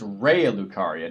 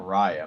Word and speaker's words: Raya Lucaria: Oh, and it's Raya Lucaria, not Raya. My bad. My bad. I've been mispronouncing that for ages.